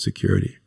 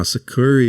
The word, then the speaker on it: Sucuri: Okay, now Securi is the next one, or Securi, depending on how you want to pronounce it. I think it's Securi.